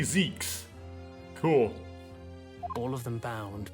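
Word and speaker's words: Zieks: foggy ocean Lord van Zeeks Mr vigil Cosmo and Gregson well it's I finally heard it pronounced it is actually Zeke's cool all of them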